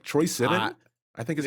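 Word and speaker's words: Troye Sivan: So it's Troy Sivan.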